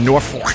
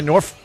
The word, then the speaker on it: Norfolk: I like to say Norfolk. How do you say it where it almost sounds like you're cursing? Yeah, Norfolk.